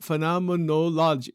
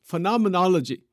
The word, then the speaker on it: phenomenology: it that is called the study of phenomen phenomenology phenomenology phenomenology that's how you pronounce it you know and and so that